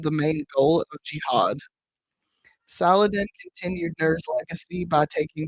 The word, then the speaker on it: Saladin: All I can think is like salad in salad. That's how I kept having to say his name in my head when I was typing it, because you know I am phonetically, and it's one letter off from paladin, so that helped too.